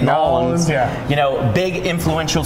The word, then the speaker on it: New Orleans: 10:00 so Mardi Gras New Orleans and that's how you say it nollans yeah you know big